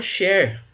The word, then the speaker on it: Schär: um modelo apresentado por Scher. Esse é um nome alemão, então esse termo aqui ele pronuncia meio parecido com E. Quem que é esse Scher aqui?